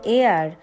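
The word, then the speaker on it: heir: উত্তরাধিকারী রেখে গেছেন এখানে এয়ার মানে হচ্ছে উত্তরাধিকারী অর্থাৎ এইচ এই সবকটা যে আমরা সেন্টেন্স দেখলাম তাতে কিন্তু উজ্জ্বর আছে কোথাও এইচ এর উচ্চারণ হয়নি আমরা অচ্চারণ দেখেছি এবার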